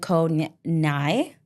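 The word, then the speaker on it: Koh Ngai: Okay, Koh Kradan and Koh Nai. It's spelled Ngai, but the G is silent.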